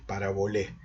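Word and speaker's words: παραβολή: Pero lo cierto es que la versión de los 70 traduce el término masal como parabolé, ¿sí? Con acento en la E, parabolé, y con E final.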